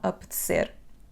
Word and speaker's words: apetecer: A primeira letra, a letra A, vai ter aquele som semi-fechado. A. Não é A, ok? Então, apetecer.